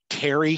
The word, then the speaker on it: Carey: Oh, and probably would have been, known the Carey family, Carey family, as we're supposed to pronounce it.